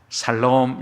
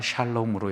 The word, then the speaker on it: 샬롬: 아니면 살롬 이렇게 인사하십니까? 발음 잘 하셔야 됩니다. 샬롬으로 해야 되는데 살롬이라고 하면 안 됩니다.